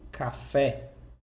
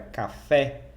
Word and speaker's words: café: mais forte da palavra então por exemplo aqui na palavra café você sabe que essa segunda sílaba ela é mais forte porque tem um assento está marcado aqui então se fala café você não fala café você fala café com uma final da